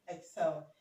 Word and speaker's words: exhale: now option D is exhale Exel okay exhale it has um the h letter the h letter here is pronounced is not silen like here okay so option D